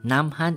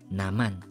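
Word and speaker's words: 남한: So, kung hindi natin ipropronounce, kung isusunda natin yung rules na to, magiging naman. Okay? Naman. Not namhan. Naman.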